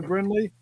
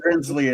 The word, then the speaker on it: Brinley: going to send this off to you, Brinley. I hope we pronounce that right, Brinley. That's an interesting name. Not Brinsley as in Schwartz. No, Brinley, not Brinsley.